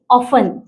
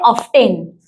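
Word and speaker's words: often: But making a easy way जिसे हम बोलते हैं ऑफन। तो बच्चे उसको रीज़ करते हैं ऑब्टेन। क्योंकि वो 10 उनको पता है। टी इ एन 10 ये स्पेलिंग उनको पता है। तो उसको ऑब्टेन कर देते हैं। एकदम सिंपल। वो साइलेंट लेटर है बट उनको नहीं पता रहता है। वो ऑब्टेन करते हैं।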